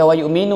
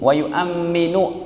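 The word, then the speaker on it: ويؤمّن: Ini bukan dibaca wa yu'minu ya Bapak Ibu. Ustadz kok bacanya pakai wa yu'ammin, wa yu'amminu, mimnya ada tasydid. Itu dari grammar bahasa Arabnya kita bisa baca begitu.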